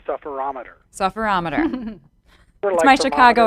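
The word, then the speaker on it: sufferometer: you talk about the sufferer ohmmeter what is a sufferer ohmmeter well first off it's it's pronounced the sufferer ometer sufferer ometer mmm-hmm my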